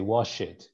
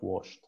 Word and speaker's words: washed: of the ed they they would normally pronounce the e all the time so for example it's washed and they will say wash it instead of washed there was another word